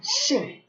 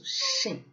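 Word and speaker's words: 姓: And it's pronounced Xing. So Xing.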